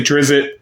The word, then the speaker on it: Drizzt: I say Drizzt like I'm a Southerner we eat grits. So, it's Drizzt. So, Grits. I don't know. I But, some people say Drizzit, some people say Drizzt.